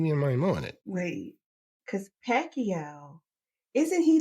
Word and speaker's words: Pacquiao: Manny Pacquiao. That is proper proper pronunciation.